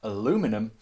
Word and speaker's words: aluminum: frequently ridiculous story of why Americans and Canadians pronounce the name of this metal aluminum, while here in Britain and in the rest